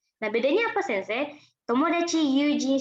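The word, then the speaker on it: 友人: Kalau yang ini dibacanya yujin.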